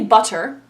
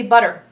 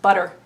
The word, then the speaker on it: butter: We don't say butter, we say butter. We pronounce it with a D, butter.